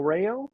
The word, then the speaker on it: Rao: Um, my name is Reo. That's spelled Rao. Everybody likes to ask how they spell that there. It's like the pasta, like the pasta sauce.